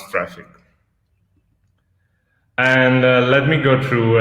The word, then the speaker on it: Traefik: and so the name is just as you pronounce Traefik.